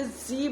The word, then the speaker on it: Z: English alphabet में जेड नहीं होता है, वो टोटली रॉन्ग है। अगर आपने बचपन से पढ़ा है, आप कोई भी डिक्शनरी कुछ भी प्रोनाउंसिएशन खोल के देखिए, जी बोला जाता है, वो जेड नहीं